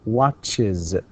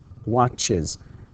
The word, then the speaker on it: watches: Watch, and the words that end with the sound ch, right, or s, all right, we actually pronounce them with is. So we say watches, watches. Even if you try to pronounce it without the I before the z, you can't. You can't say watches. You can't say that. And you can't say watches. That's even impossible.